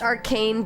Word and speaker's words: Archesne: Pronounced arcane, derived from Duquesne?